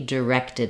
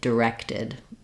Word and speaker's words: directed: in the D is the I vowel like in did he did it he directed it it directed uh in the direction